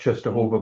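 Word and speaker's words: Częstochowa: Oh, You never know, I know, Go- you never know it's pronounced Czestochowa by looking at it, that's the but.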